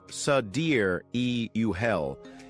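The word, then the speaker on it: Sideræl: The final part of the name, Sidereal, pronounced Sadir-e-Uhel, is a more ethereal take on sidereal, meaning star time or deep space-time, contrasting with Earth's relative time.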